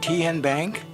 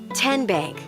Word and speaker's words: TN Bank: How do you say the name? TN Bank? Nope. Tin Bank? Uh-uh. So, what is it? Tenbank. 10 as in Tennessee.